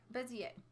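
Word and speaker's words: Bézier: bezzie étoile bezzie a is a French word in French any words that end in ier are pronounced yeh bezzie a Bezier and that is this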